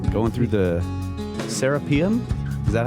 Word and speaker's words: Serapeum: serpent podcasts and uncharted x going through the serapium is that how you pronounce it i'd say serapeum okay we've always called it the seraphim yeah seraphim but we're always pronouncing stuff wrong